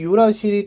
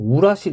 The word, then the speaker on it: 유라실: 근데 RNA에만 이 유라실이 따로 있어요. 유레실, 유레실, 뭐 유라실 이렇게도 쓰고 옛날엔 뭐 우라실 이렇게도 표현했는데 유라실이 그래도 한글로 표현할 때 그나마 좀 더 정확한 발음 같아요.